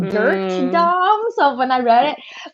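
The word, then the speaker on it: Durte Dom: up with that yeah and it's spelled d-u-r-t-e so it's like like dirt dom so when i read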